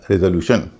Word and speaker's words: resolution: RESOLUTION। इसमें TION से पहले 3 वावल हैं, ई, ओ और यू, और इसमें आदि का उच्चारण रे हो रहा है, इसलिए इसको बोला जा रहा है रेजोल्यूशन।